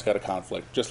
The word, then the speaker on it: conflict: Now, because there's been a conflict, that's the right way to pronounce that.